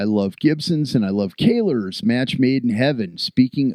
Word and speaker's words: Kahler: Well, all I know is that Taylor rhymes with Kahler, and I'm really he's nice that he's playing a Gibson and a Kahler.